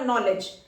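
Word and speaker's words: knowledge: next word है हमारा नॉलेज नॉलेज simple नॉलेज एन का स्ट्रोक और यहां जे साउंड आ रही है जे स्ट्रोक की साउंड है जे साउंड है नॉलेज डी हमारा साइलेंट है नॉलेज एल को रिप्रेजेंट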